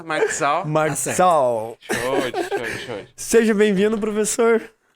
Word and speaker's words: Marczal: Tá certo a pronúncia? Marxal.